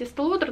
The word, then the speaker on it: Estée Lauder: Но это Bronze Goddess от марки Estée Lauder. Ну, я знаю, что правильно говорить Estée Lauder, но у меня деформация на фоне таких более стандартных произношений.